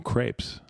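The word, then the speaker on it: crêpe: gonna do it now in french isn't it pronounced crap yeah crep cup you were very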